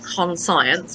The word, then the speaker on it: conscience: go three words conscious conscience which looks like it's spelled con science but it's pronounced conscience and number three is